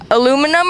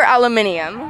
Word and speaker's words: aluminium: Aluminum or aluminium? Well, it's spelled aluminium with 2 I's, so I don't get how the Americans use aluminum.